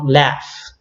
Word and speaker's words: laugh: We have laugh. So the pronunciation is like an F here at the end.